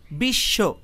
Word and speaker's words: বিশ্ব: উচ্চারণের সময় শুধুমাত্র তালব্য স উচ্চারিত হয়েছে, আর বয়ের পরিবর্তে তালব্য স উচ্চারিত হয়েছে।